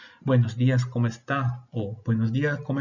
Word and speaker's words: buenos días: no tenemos algunas formas además de estas tenemos buenos días o buen día dos formas para lo mismo repiten conmigo buenos días mira que el la de antes de jeep